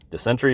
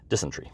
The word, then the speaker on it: dysentery: were suffering from malaria the sentry or dehydration dysentery that's how you pronounce it only about 500 emerged